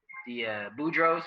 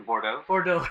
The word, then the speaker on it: Bordeaux: For me personally, I think the Boudreaux, or how do you say it, Calvin? The Bordeaux. The Bordeaux. I don't always say the Boudreaux, but the Bordeaux.